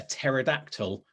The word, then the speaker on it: pterodactyl: But let's start with why can't you hear a pterodactyl go to the toilet? I know this one. Oh, there you go. Go for it. Because the T is silent. Yes, the P is silent.